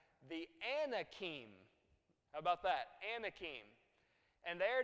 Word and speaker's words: Anak: I said ah yes you're exactly right the Anakin about that Anakin and their descendants of anak